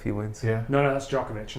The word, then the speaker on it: Djokovic: I can't pronounce it. Djokovic?